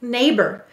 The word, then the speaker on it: neighbor: Now, why did the or sound like er in neighbor?